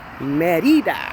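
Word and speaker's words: Mérida: say that right Merida pronounce the eyes like an e for those of us English speakers so how you doing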